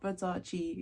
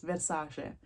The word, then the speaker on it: Versace: Like Versace, it's not Versace, it's Versace.